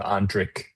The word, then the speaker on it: Ondrich: It's a hard C H like Zurich or Munich. So Andrik.